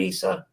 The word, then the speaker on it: Yssah: which is did I pronounce that right Isa yes you can call me Isa